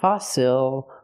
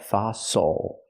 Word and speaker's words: fossil: We use the true s sound. Fosil. Use the open a sound like hot and stop for the o fa fosil. Again, not fossil, but fossil. The stress is on the first syllable. The second syllable is not stressed, so it's o like muscle and castle.